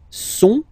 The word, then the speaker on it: sont: Okay, ils sont, final T not pronounced.